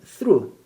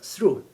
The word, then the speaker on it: through: 발음 through. GH가 발음 없습니다. 그래서 through.